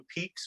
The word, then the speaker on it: pique: to meet someone who piques my interest p-e-e-k uh uh which and if you're just just to if you're not if you didn't know p-i-q-u-e is how you spell that word so I read that